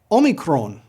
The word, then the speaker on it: Omicron: the Greek Omicron so pronounce this o as you do for the English word or o o Omron now